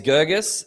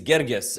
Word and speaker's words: Girgis: The white people way is Girgis, the Egyptian way is Girgis, and you're bang in the middle.